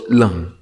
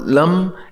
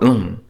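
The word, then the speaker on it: लं: The seed syllable is la with a dot, so lung. So it's not lum, it's not lung, it's la with a dot, lung. So with a soft NG sound.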